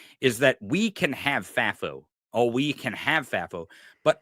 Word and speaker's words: FAFO: because I it's not that I don't want FAFO. Okay. Is that how you say it? FAFO? FAFO? It is. FAFI? FAFO.